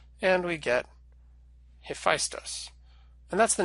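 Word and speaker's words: Hephaistos: another Greek god and now you may have seen this name spelled like this and pronounced a festive and that's because this is the way that the Romans transliterated it into Latin and the name have Festus comes to English through Latin they had slightly different rules for transliterated and Greek than we do okay now I think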